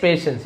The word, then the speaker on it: patience: बट he stage पेशेंस। यहां पे टी आई लिखा है बट स उच्चारण होता है लेकिन वो शांत